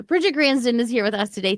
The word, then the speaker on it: Gransden: Granddon, I'm sorry. I wrote it down phonetically and I just blanked. Granddon. Bridget Granston is here with us today.